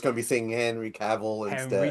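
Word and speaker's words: Cavill: Henry Caval, that's how you say his name. I've been struggling, Quinn. I don't know if you've noticed, I've been saying Henry Caval. One of your country sir, you should know how to pronounce Yeah. Yeah. Yeah. Like travel.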